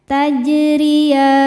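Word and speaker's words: تَجْرِيَانِ: Tajriyan. Huruf ro dibaca secara tarqiq karena berharokat kasroh. Cara bacanya ditipiskan.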